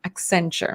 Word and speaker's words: Accenture: diversity employee resource group at accenture am i pronouncing that correctly accenture yes that's right her hope is to help